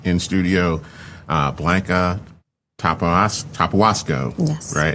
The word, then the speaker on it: Tapahuasco: Tapawasco. Yes. Right. Give me the pronunciation on that.